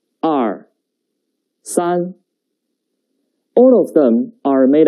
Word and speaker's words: 二: about two horizontals yes it means two the pronunciation is r r now let's write it together the basic writing